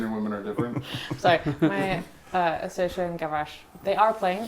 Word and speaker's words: Saoirse: Saoirse, like inertia? Well, like the Irish. Saoirse I Ronan. didn't name her first Saoirse Ronan, but it is pronounced like Saoirse, Same yes.